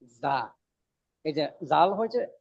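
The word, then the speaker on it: زاي: না যা ইয়া গইন যা শব্দটা কি হবে যা শক্ত করি ওদিন বললাম না যে যা হরফটা উচ্চারণের সময় একটা ভমরের মতন একটা আওয়াজ হবে যা যা যা উচ্চারণটা যা না জা হয়তো জিম হয়ে যাবে।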